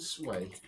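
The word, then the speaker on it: Sui: Do you know Sooie is actually supposed to be called Sway?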